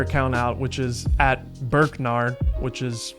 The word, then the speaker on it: Burkgnar: check his other account out, which is at Burknar, which is spelled BURKGNAR.